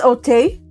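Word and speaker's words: Auteuil: Because Otay. French. Otay. Yeah. Otay. It's AU, which makes the sound O.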